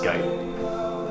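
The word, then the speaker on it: G8: It's pronounced gate, isn't it? Pronounced gate.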